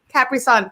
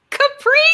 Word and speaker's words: Capri Sun: Capri Sun. Capri. That's what I said. No, you said Capri. Yeah, the accent was definitely on the CA portion.